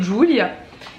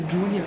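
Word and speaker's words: Ghjulia: En fait, G-H c'est un début de mot en Corse qui est dans... Enfin, on le voit partout, ça se prononce pas en fait, parce que c'est Julia.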